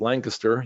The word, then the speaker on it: Lancaster: It's pronounced Lancaster, you folks from Pennsylvania, because it's in Ohio. That's how they say it.